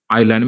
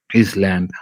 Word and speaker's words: island: island instead they say his land and then fast and they say fast and they say fast and they say we should be aware of silent letters when we pronounce the english words the second difficulty i'm